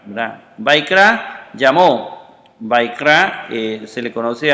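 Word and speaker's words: ויקרא: Otra vez, y la A, esta no se pronuncia, entonces se lee Vaikra, ¿verdad? Vaikra llamó.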